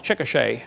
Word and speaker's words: Chickasha: 2005 textbook, and I pronounced it wrong, it's Chickasha, not Chickasha, Chickasha, Oklahoma.